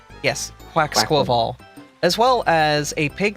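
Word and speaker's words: Quaquaval: Quacklaval. Thank you. Quacksquavel. Yeah, like Quacks- carnival. Yes, Quacksquaval.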